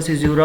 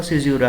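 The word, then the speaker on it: caesura: लिखा हुआ है कि व्हाट इज अ सिज्यूरा, यहाँ पर करेक्ट प्रोनाउंसिएशन इसका सिज्यूरा होगा, पता नहीं लोग बाग क्या क्या बोलते हैं ऐसे, ये करेक्ट प्रोनाउंसिएशन इसका सिज्यूरा है।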